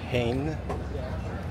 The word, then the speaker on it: Heijn: So I'm gonna go with that Albert Heijn. I think the J is silent.